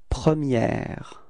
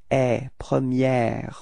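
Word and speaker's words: première: repeat la premiier okay so don't be afraid to in insist a little bit e premiier okay pronounce it quite correctly because if we don't I mean if you don't then I will understand the premier okay so that's the only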